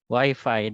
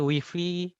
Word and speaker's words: Wi-Fi: Knowledge Sharing Setban 1 episode 15 dengan tema Wi-Fi Dead Zone, Nongol Enggan, Connect Tak Mau.